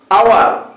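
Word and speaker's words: hour: হ্যাঁ যদি শব্দের শুরুতে কনসোনেন্ট থাকে এবং প্রথমে ভায়ের উচ্চারণ হয়, যেরকম আওয়ার, তো এখানে আওয়ার এসটা উচ্চারণ হয় না, তো এই ক্ষেত্রে আবার ভায়ের কনসোনেন্ট থাকা সত্ত্বেও এখানে কি বসবে, এখানে বসবে এন বসবে।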